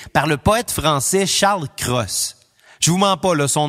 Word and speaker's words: Cros: conclut avec succès par le poète français charles cros je vous ment paul son nom se prononce vraiment comme solo j'ai vérifié l'alphabet phonétique